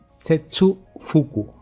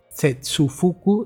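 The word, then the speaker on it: 切腹: Y en el caso del chino, cortar es setsu y vientre es fuku. Por lo tanto, cortar el vientre sería setsu fuku.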